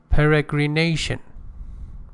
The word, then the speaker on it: peregrination: Peregrination, it has two stresses. Pay attention. One secondary stress and another primary stress. The primary stress is on peregrination, on nation. And the secondary stress, which is a weaker stress, is on the first syllable, peregrination.